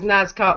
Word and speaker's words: Nazca: I don't see that I've got an R on the end. I'm just saying it as Nazca with it's an Nazca, isn't it?